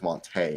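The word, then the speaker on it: Monta: someone who speaks another language in Spanish that would make that E that makes it more of an A sound. That's why it's Monte, not Monty. Yeah.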